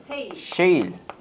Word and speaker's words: shale: 셰일. 발음 잘해야 되지. 세일 아니고 셰일이에요.